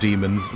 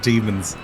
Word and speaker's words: Daemons: I've been basically informed by everybody that it's pronounced demons, so I'll be going with that and calling it demons.